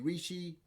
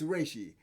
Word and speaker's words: Reishi: Your health bar is called the Rishi, and the other one, no, it's not pronounced. I mispronounced that. It's Reishi. So your health bar is called Reishi, and then the number of health bars you